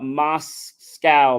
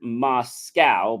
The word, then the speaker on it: MoSCoW: pretty good the uh MOS scow method pronounced like Russia's capital is a simple prioritization